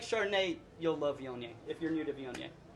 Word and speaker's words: Viognier: for people that are getting into wine to pronounce when they come in the taste room. So it's Viognier, and if you want to relate it to